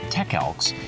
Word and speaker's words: TECELKS: how this is working the company's name i believe they pronounce it tech elks and i'll put a